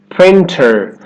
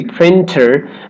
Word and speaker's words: printer: Printer. Instead of that true T, printer, you'll hear a lot of native speakers say printer. Can I use your printer?